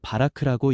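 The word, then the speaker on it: בָּרַךְ: 여기서 복이라는 히브리어 단어는 바라크라고 읽습니다.이는 은혜로 채우고 능력을 부어 생명을 자하게 하시는 하나님의 주도적 축복을 뜻합니다.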